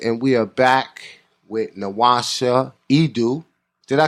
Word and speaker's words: NWasha Edu: This is your host, Rahiem Shabazz, and we are back with NWasha Edu. Did I pronounce it right?